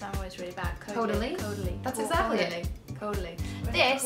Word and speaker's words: Caudalie: Pronounce it for me, because I'm always really bad. Caudalie? Caudalie.